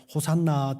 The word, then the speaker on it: 호산나: 구원하소서 우리를 지금 구원하소서 말이 히브리어로 호시아 나입니다 호세아가 호시아 구원하다 말이고요 나라는 말이 지금이라는 말입니다 호시아 가 조금 빨리 발음을 하면은 호산나 비슷합니까 예 시아나 시아나 우리는